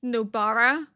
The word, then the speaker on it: Nobara: know that how you say her name is Nobara.